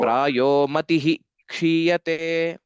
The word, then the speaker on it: प्रायो मतिः क्षीयते: we have ksha etc, the visarga has to be pronounced fully. So Oh. prayo matihi kshiyate.